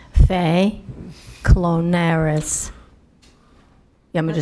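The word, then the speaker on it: Fay Klonaris: Fay Clonire. You want me to spell it?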